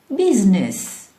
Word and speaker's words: business: Syllables which we don't pronounce. For example, business, business.